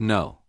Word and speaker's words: know: Think about the word no. The K is silent. Or the word listen, the T is silent.